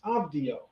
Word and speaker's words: Abdiel: elaine zevi believes that the vizier's name actually would have been pronounced abdio same way it's pronounced by hebrews in the bible the second part of